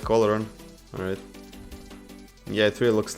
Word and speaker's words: Olorun: Oh, they made this horror skin look like olorun.